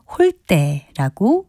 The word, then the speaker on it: 홀대: 소리인 대로 발음을 하지만 접대와 같이 니은 이외에 받침이 올 때는 된소리인 때로 발음합니다 따라서 소홀하게 대접하는 것은 홀대라고 발음합니다 홀대는 정성을 들이지